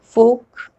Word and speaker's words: folk: the rule first l is not pronounced when it comes after vowels a o and u let's look at some